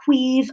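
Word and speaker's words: Caimh: love his socks off his name is queef mcdonald queeve is spelt c-a-i-m-h um i will put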